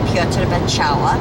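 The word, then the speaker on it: Piotr Beczała: And we got to go backstage and visit with the lead tenor Piotr Bacała, that's how you pronounce his name in Polish, who greeted us very wonderfully.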